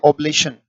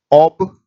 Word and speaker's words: oblation: उच्चारण इसका है ओब्लेशन, ऑबलेशन, ऑबलेशन, ऑबलेशन का मतलब चढ़ावा होता है बेटा।